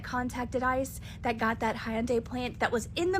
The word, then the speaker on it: Hyundai: It's not Hyandai, it's Hyundai.